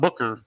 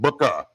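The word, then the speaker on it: Bukka: that's bu bu kka I'm saying it right not Booker but Booka book of white they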